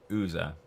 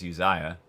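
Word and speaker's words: Uzza: in mind here uh about ooza i think that's how you say his name i don't think it's uziah it's just ooza so uh all right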